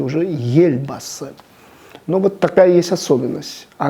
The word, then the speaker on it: Елбасы: да, или вождь, это Ельбасы, да, и мы слышим, как некоторые люди неправильно говорят Елбасы, Елбасы, потому что ближайшая буква Е, она ее смягчает, и уже Ельбасы.